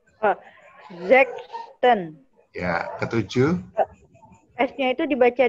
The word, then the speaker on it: sechsten: Sexten. Oh, sexten.